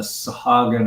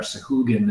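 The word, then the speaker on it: Sahuagin: And at the I started kicking on the idea of a adventure focused on the Sahagin or Sahugin. It depends on who's pronunciation. It's like Drow kind of deal.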